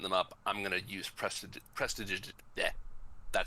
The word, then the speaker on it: prestidigitation: As they're setting them up, I'm gonna use prestidigitation. That spell, that one cantrip that I can never pronounce. Prestidigitorium.